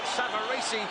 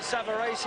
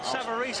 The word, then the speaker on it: Savarese: Still on the comeback trail against Lou Savari as we will call him. The Italians behind us are pronouncing it Savari. And that'll do for me, Frank. Um, Savaris, I believe, is the American pronunciation, but we won't worry about that.